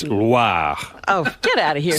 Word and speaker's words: Loire: It's not LWA. Oh. It's Loire.